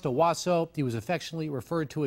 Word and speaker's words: Onwuasor: on monday and released his name is pronounced awaso he was affectionately referred